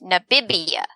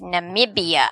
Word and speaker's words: Namibia: to an answer and he said what is nabibia like n-a-b-i-b-i-a or something and i said no that's not that's not how you pronounce it that's not correct and my mother